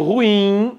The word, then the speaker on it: ruim: O adjetivo ruim, sílaba tônica é a última, nenhuma palavra terminada em in tem acento, todas são oxítonas.